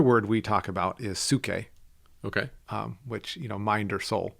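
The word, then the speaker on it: ψυχή: The other word we talk about is suke. Okay. Which, mind or soul. Mm-hmm. And that's kind of interesting. So spell that, because the reader might not know how you're spelling that.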